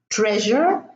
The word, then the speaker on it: treasure: If there is an S before it, then the S is pronounced ja. Measure, treasure, pleasure, and this one is leisure.